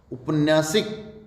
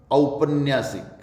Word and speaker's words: औपन्यासिक: उपन्यासिक, जी नहीं, औपन्यासिक, औपन्यासिक।